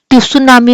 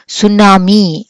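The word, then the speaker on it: tsunami: అని చెప్పి అంటున్నాం కదా కానీ రాయటం ఎలా రాసాం మనం స్పెల్లింగ్ టి రాసి ఎస్ యు ఎన్ ఏ ఎం I okay కానీ మనము టి సునామి అని పలకట్లేదు కదా మనం ఏమని పలుకుతున్నాం మనము సునామి అని చెప్పి పలుకుతున్నాం సో ఈ టి ఏమైంది ఈ టి మనకి సైలెంట్ లెటర్ అని చెప్పి అంటాం ఓకే సో కొన్ని వర్డ్స్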